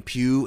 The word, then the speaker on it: Pugh: do like Florence Pugh I guess they say her name pew as Yelina the other